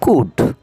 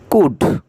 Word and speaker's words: could: কুড, কুড, কুড, COULD, কুড, এখানে এল এর উচ্চারণ নেই।